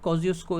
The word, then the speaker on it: Kosciuszko: Australia की highest peak, जिसका नाम है माउंट कॉजियोस्को। इसकी स्पेलिंग मैं लिख देता हूँ, KOSCIUSZKO।